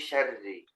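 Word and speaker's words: شَرِّ: Min syarri. Min syarri ma khalaq. Kenapa dibaca tebal lagi? Syarri. Syarri. Kan ro-nya kasro. Tahu kasro tipis kan? Berarti dia bacanya tipis. Syarri.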